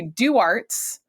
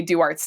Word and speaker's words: Duarte's: And if they say Duarte's, we say Duarte's Tavern with a silent E, but people say Duarte's. So if you say Duarte's, we already know that you're visiting.